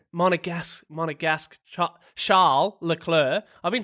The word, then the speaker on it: Monegasque: session that saw homegrown Moneganesque, Ev, help me there. How do you say it? Monegasque. Monegasque.